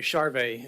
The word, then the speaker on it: Charvet: My name's Charvet, is the correct pronunciation.